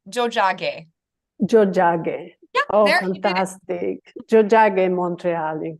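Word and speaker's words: Tiohtià:ke: of them and it's it's pronounced Jo Jo oh fantastic Jo Montreal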